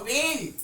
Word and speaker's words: வேள்: உச்சரிக்கும் போது கவனமா உச்சரிக்கணும் நுனி நாக்குல உச்சரிக்கும் போது வேல் அப்படின்னு உச்சரிப்போம் இதை உச்சரிக்கும் போது வேல் அப்படின்னு சொல்லிட்டு நாக்கை இன்னும் மடிச்சு நடுப்பகுதியில போயி உச்சரிப்போம் இப்போ வேள் அப்படின்னு சொல்லும்போது தலைவன் இப்ப வேள் பாரி